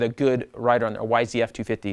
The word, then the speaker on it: YZ250F: on a motocross, say YZ250F with a good rider on there. YZF 250 is the correct way to say that.